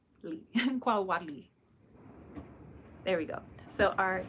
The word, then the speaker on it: Xocolatl: I want to make sure that I am pronouncing it correctly. So Xocolatl. Xocolatl.